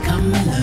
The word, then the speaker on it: Kamala: Pronounce it right, cause she's Kamala.